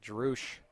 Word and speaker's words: Drush: Pronouncing it Drush on the PA, so we'll go with that.